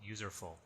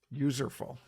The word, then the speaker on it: Userful: It's a mashup of useful and user, so Userful. Userful.